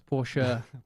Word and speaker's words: Porsche: Oh, I thought you meant, how do you pronounce Porsche? It's Porsche. Porsche.